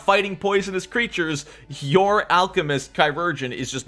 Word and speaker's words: Chirurgeon: how do you pronounce Chirurgeon? Chirurgeon.